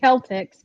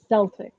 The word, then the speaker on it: Celtics: I say it like it's supposed to be freaking pronounced, which is Celtics because it's a hard K. Except if you're freaking from Boston, and then apparently it's a soft S for Celtics.